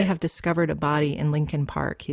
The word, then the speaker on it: Leakin Park: a word here about Lincoln Park it's actually spelled Le Park l e a k i n but almost everyone in Baltimore pronounces it Lincoln Park it's huge over a